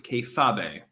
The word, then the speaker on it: kayfabe: It's pronounced, according to Citicipiente, it's pronounced kayfabe.